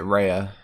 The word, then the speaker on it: Rhea: did not look good i pronounce it raya raya ripley don't you have chat